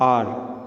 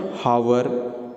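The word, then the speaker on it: hour: अब यहाँ पर आप देखो यहाँ पर एच है बट स्टिल हम इसको कैसे प्रोनाउंस करते हैं आर, नॉट हावर.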